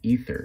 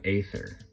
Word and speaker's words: Aether: pronunciation of that is ether not aether that ae character makes a hard e sound like egypt so just a tip